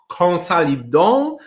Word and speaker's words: Konsälidön: company, because I don't even know how to pronounce it. Consolidon or Consolidon? Please tell us more about the name of your company, about your company, and of course about you. Sure. Thanks, Maciek. So, Consolidon, you pronounced it right the first time.